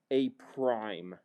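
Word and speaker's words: A′: That's called, or that's pronounced A prime.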